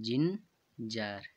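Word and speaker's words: ginger: बाद आई है तो यहां पर जी का उच्चारण है जहां होगा और इसे पड़ती है हम जिंजर जिंजर आ जा यार एक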